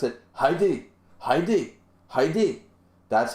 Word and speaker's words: Hide: pronunciation of that name it's not hide hide is hide and seek that's an English word when it's in Japanese